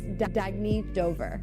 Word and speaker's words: Dagny Dover: Oh, it's pronounced Dagny Dover. Dagny means new dawn.